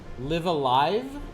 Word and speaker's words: Live A Live: this fan translation queens first live rhymes with give second live alive is how you're supposed to say it that doesn't make sense